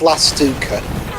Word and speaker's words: Lastivka: Adam Lastivka, I guess that's the pronunciation. Apparently, it's pronounced Lastuka.